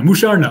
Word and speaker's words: Musharna: mind marsh okay moo sharana musha musharna musharna musharna okay there we go mushar now that's how you pronounce that thank you and no man you